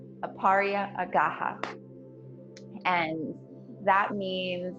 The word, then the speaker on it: Aparigraha: have to check my notes to how to pronounce it um it's aparia gaha aparia agaha and that means like non-hoarding or um like